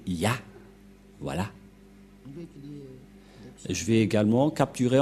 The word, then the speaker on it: Yah: La prononciation de ce terme est ceci, c'est Yah.